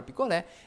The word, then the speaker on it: picolé: um número um belezinha essa palavra picolé ela acentuada porque ela tem a última sílaba mais forte beleza já revólver o